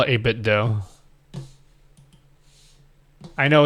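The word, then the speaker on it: 8BitDo: know like officially it's 8bit do though but I think they're just covering it up it's actually supposed to be dough there's just no Hey, your controllers are so similar to Nintendo controllers.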